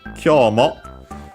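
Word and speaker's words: 今日: Then we have Kyomo I shashin o tanomu zo. First and foremost we have kyo, which is the word which means today. Accent on the first syllable, yes, as I remembered.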